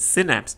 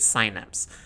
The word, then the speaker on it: synapse: Is it synapse or is it synapse? Synapse is the British pronunciation and synapse is the American pronunciation.